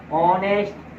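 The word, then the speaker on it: honest: ई house किंतु कुछ शब्दों में एच साइलेंट भी रहता है जैसे यहां पर एच तो नहीं पढ़ रहे ओनर एच तो नहीं पढ़ रहे ऑनेस्ट एच तो नहीं पढ़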